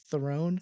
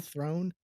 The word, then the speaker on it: Theron: because most people can't It's actually pronounced Throne or Thrawn.